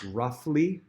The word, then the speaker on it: roughly: Next word is roughly. Roughly again, gh making the f sound.